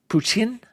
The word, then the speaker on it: poutine: Puchin, I believe is how you pronounce it. Puchin. Puchin is what Zank Kai goose said is how you're supposed to pronounce it.